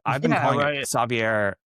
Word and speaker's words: Savier: Um, and like I still pronounce it Savier because that's how the skateboard brand pronounced it.